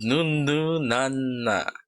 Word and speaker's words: Nun Nu Na: So that was Signature with Nunu Nana. Not to be confused with the song by some other singer called Nunu Nana. That's why I'm taking care to pronounce it that way.